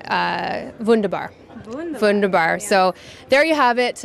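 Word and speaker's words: wunderbar: um how do you say uh vundabar vundar vundabar so there you have it uh I will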